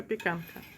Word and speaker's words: Zapiekanka: And awesome street food in Poland is called Zapiekanka. Am I saying it right? Mm-hmm. Okay. Zapiekanka.